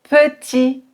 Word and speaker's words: petit: Petit, grand, français. Vous remarquez que je ne prononce ni le T, ni le D, ni le S.